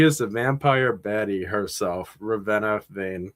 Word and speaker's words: Ravenna: I can't believe people pronounce your name anything but Ravena because it's it's pronounced how it sounds so like we're just going to like yeah.